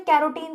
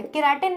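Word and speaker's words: carotene: यहां पर जो ऑप्शन है, ठीक है, उसके अकॉर्डिंग, जिसमें कैरोटीन पाया जाता है, केराटिन नहीं, कैरोटीन पाया जाता है। ठीक है, थोड़ी प्रोनाउंसिएशन अपनी सही करो।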